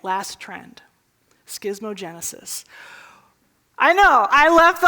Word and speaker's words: schismogenesis: so I did the schismogenesis say it with me schismogenesis once more schismogenesis that's how you say it now where are